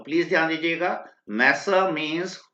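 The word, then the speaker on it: masseur: ध्यान से प्रोनाउंस कीजिएगा, मैसर।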